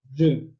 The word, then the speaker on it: je: And so I in French is pronounced je.